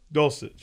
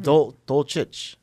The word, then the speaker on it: Dulcich: Dulcich. It's Sitch. Yeah. Why isn't it Dolchich? That's the like correct Croatian way to pronounce, but I guess like kind of got Americanized.